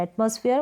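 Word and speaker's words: atmosphere: ऐसे ही स्फीयर है ये जो फ है ना पैर करके प्रोनाउंस ना करें फ को फॉर प्रोनाउंस किया जाएगा फ को फॉर प्रोनाउंस करेंगे इसको प्रोनाउंस करें एटमॉस्फेयर मतलब वातावरण नेक्स्ट यहां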